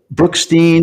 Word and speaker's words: Brookstein: your last name right is it brooksine or brookstein well i i call it brookstein my dad always call